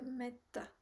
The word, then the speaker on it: metta: aujourd'hui euh nous allons faire la pratique de metta metetta metta metetta qui s'écrit M e TT et qui avec